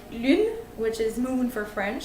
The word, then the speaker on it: lune: How you could pronounce it is you really need to bring your whole lips in the front, in the shape of O, like this, and you try to say U. It's a sound that you make with your throat.